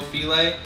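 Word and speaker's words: filé: you guys can find gumbo filet it's spelled like file it's green definitely do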